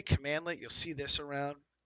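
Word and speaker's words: cmdlet: to when I say commandlet you'll see this around it's written like this CMD let so if you see that that's pronounced commandlet and uh just want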